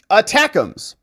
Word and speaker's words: ATACMS: But with 2 months left, ATACMS is how you say it.